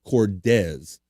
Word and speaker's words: Cordes: Hagrod says, BF, it's actually pronounced Cordes. What we learned, we learned this, okay, what I say, Cordes. I will say Cordes.